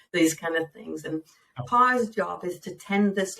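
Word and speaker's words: Paa: So the last walk I did with Pa, P-A-A is how it's spelled, Pa.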